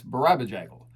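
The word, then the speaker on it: Barabajagal: I love it when people say, I don't know how to pronounce this word. Play the record. He says it. It's Barabajaggle.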